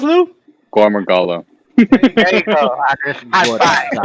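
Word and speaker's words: Gore Magala: How does it pronounce, Lou? Gormagala.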